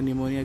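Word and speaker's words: pneumonia: तो इनसे होता है निमोनिया की पीठ से होता है अरे कौन सा वाला है कि यह वाला सही है मैं क्यों सही है क्योंकि पीस का साइलेंट है जिसमें तक करेक्ट स्पेलिंग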